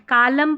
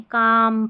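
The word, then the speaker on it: calm: यहां पर L silent कालम पालम बालम नहीं काम पाम और ये बाम तो यहां पर एल साइलेंट है।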